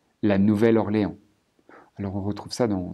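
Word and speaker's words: Nouvelle-Orléans: D3 Bâton Rouge et nouvelorléand ici en anglais on dira new mais en français on dira nouvelle la nouvelle orlé alors on retrouve ça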